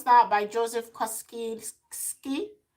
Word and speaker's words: Kosinski: Okay, I can't pronounce that, by Joseph Kosinski. Kosinski.